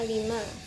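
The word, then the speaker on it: عَلِمَ: Contoh dalam bahasa Arab kata alima. Alima di sini artinya mengetahui, diucapkan dengan tekanan datar.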